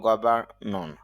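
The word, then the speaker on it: governor: গভর্নর বা আমরা এভাবে বলতে পারি গভর্নর, তবে শুদ্ধ হলো গভর্নর। র প্রথম যে র এই সাউন্ডটা হবে না, অর্থাৎ এখানে যে র আর এই সাউন্ডটা হবে না, অর্থ হলো শাসক।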